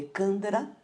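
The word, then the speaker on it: Chandra: Essa respiração, a palavra se escreve com CH, mas se lê Candara, ou uma respiração lunar, tá?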